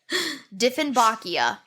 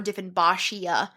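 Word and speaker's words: Dieffenbachia: are just straight up jerk plants for example defin bakia um this is a very common house plant defin bakia yeah at least I'm pretty sure that's how you say it or defin bashia um Kim actually has it at home it's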